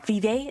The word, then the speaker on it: Vive: not they just came out with the new Vive is how you pronounce it headset it's it's like okay it's